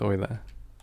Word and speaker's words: Euler: Still can't believe it's pronounced Euler. It's because it's named after a person.